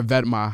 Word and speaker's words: Vetements: Then I'm gonna go with Vetements, or Vetma, how I think it's pronounced, but Vetements, if you read it out, it looks like Vetements, but it's pronounced Vetma, pretty sure.